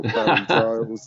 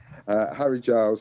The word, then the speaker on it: Harry Giles: I keep getting his name wrong. I want to call him Harry Styles or Barry Giles. But no, Harry Styles, I was going to say it again. Harry Giles.